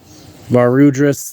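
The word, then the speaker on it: Varudras: of I always forgot that's card's name is pronounced VAR rudras the the final bringer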